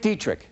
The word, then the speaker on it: Dietrick: For now, I'm Dick Dietrick. That rhymes with neat trick.